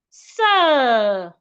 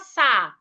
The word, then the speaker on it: sir: Sir. We have letter R after letter I, a longer sound. Sir. It's not sa or se.